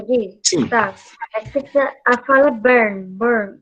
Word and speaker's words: Bern: Bern. Isso, a pronúncia soa mais ou menos assim mesmo, tá? Soa igual essa palavra aqui, ô Caio. Soa igual burn, né?